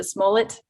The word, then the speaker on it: Smollett: how to say his last name is a smullet yeah you did it roll it okay when